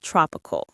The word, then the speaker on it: tropical: Let's start with tropical. Tropical. The stress is on the first syllable. Trop tropical.